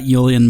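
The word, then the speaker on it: uilleann: So if the guy who's made more money playing bag pipes than anyone or everyone put together says ill. Yeah, I'm going to go. That's the proper pronunciation. I'm going to go with Illan then. Yeah, for some reason I don't know where I don't know where I got Yulen, but that that's how it was usually pronounced to me.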